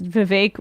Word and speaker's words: Vivek: that clip uppers does Vivek it rhymes with cake have the same speaking